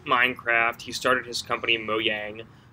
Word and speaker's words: Mojang: he started his company moyang and is that how you say it it is how you say it I've never once said it correctly in my whole life I've always said Mojang I've met him and